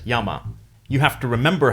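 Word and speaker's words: 山: from looking at it, there's no way to know that it's pronounced as yama.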